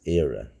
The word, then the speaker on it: Éire: It is Éire.